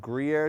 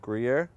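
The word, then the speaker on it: Gruyère: How do you pronounce it? Gruyere. No, it's Gruyere. Gruyere. All right, so very simple, very easy.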